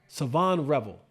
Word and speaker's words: Shavon: I think the H is silent. Savonre Savon, that's what it is.